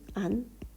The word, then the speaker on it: 앉는: 그럼 발음은 앉는 이렇게 하니까 니은 소리가 나요.